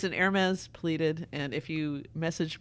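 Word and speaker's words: Hermès: you're yes and if you're a horsewoman you pronounce the set and they make saddles you call it a Hermes so that's just well then we shall say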